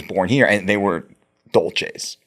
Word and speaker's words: Dolce: And real quick, side note, I growing up it I knew you as Mike Doulsece. Yeah. What? Why? What happened? So Dolce is the accurate pronunciation of my father's last name.